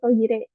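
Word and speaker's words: トイレ: Jadinya ini toire gitu ya. Mungkin lebih lebih dipermudah lagi gitu pengucapannya. Jadi toire, toire.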